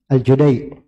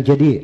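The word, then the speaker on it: الجديع: siapa gitu dia sebut padahal nama orangnya Abdullah bin Yusuf aljudai bukan aljadi aljudai Iya kalau tanya kenapa bacanya aljudai Ya begitu yang kita dengar dari guru dari orang-orang dari orang kuitnya cara bacanya itu enggak ada di buku-buku memang diharakati jelas ya Ada dari ilmu itu gak bisa Antum dapat di buku Dengar langsung duduk kepada guru Ya tahu dari orang-orang di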